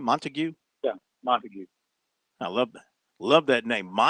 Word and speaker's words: Montague: Is that how he pronounces the first name? Montague? Yeah, Montague.